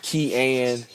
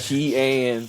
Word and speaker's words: Kean: It is pronounced Kean. Okay. Kean. So don't let my mama hear you say it wrong.